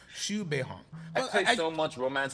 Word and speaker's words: Xu Beihong: Zhu Beiyong? No, it's Xu Beihong. Xu like SHOO and Beihong like Hong Kong. So Xu Beihong.